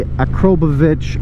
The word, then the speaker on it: Akrapovic: an Akrapovic exhaust that some people say a chroma vich I don't know what the proper way to say it is I'm gonna go with Akrapovic because that's how I've always said it somebody correct me if